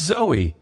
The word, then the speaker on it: Zoe: "It's Zoe," she said with a small smile, with a long e like tree.